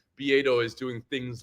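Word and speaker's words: Beato: Bedo spelled like beatto o be a t- o and I see like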